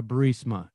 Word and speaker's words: Burisma: executives so this uh bureaucia bermusia they say pronounce it borisia burmese but they were basing his whole campaign on uh barisma and he can't even say the word now